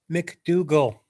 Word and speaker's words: McDougal: McDougal. Okay. Yeah. No G. G is silent, disappeared.